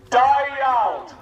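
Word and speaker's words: Da iawn: Dyald. Sounds like die young, doesn't it?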